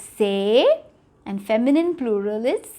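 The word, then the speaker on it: ces: So this is ce. Remember, ce, say. Ce, say. That's how it is pronounced.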